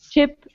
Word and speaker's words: chip: so everyone listen just listen first ship sheep chip cheap okay so repeat after me ship sheep